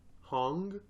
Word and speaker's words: Hong: I was just gonna say, does it not sound like how do you say his name? James what? Hong. Hong? Hong. Hong How do you spell it? Hong. H-O-N-G. Okay. Exactly like you said.